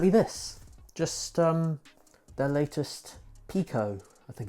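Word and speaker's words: Piqo: Just their latest Pico, I think it's pronounced.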